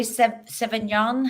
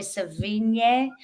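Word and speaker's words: Sevigny: very effective and um Chloe SE seon how do you say it no San but Chloe svin she plays Kitty Menendez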